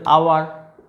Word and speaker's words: hour: হলেও এদের উচ্চারণটা মেনলি কী দিয়ে আসছে, ভাওয়েল উচ্চারণ, ঠিক আছে। অনার, honest, honourable, আওয়ার, HOUR, আওয়ার মানে 1 ঘন্টা 2 ঘন্টা যেটাকে বোঝানো হয় আর কি, সেটা টাইম।